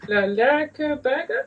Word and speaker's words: Lærke Bagger: How do you pronounce it? Lærke Bagger. Lærke Bagger.